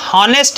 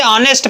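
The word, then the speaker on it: honest: पर ऐड किया है साइलेंट है ऐड तक साइलेंट है अगर इसका प्रनंसीएशन किया जाए इसको पास को पढ़ा जाए तो हम होनेस्ट नहीं पढ़ते थे ऑनेस्ट पड़ते हैं इसको हम लोग पढ़ते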